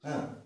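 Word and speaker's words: who: কিন্তু এখানে একটু ব্যতিক্রম আছে, ব্যতিক্রমটা কি, যেমন হু, ঠিক আছে, এখানে এইচটা উচ্চারিত হচ্ছে বরং ডাব্লিউটাই বাদ হয়ে যাচ্ছে, ঠিক আছে।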